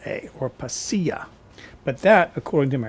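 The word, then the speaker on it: pasilla: p a s i l l a or paa but that according to my research is the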